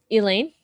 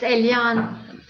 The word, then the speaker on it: Eliane: Elaine? Actually, it's Eliane. Oh, good evening. I apologize, Eliane. It's okay. All I American transposed the speakers, IMEA. they always say my name, Elaine.